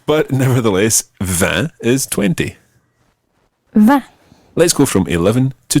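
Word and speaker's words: vingt: And the number 20 is spelled V-I-N-G-T.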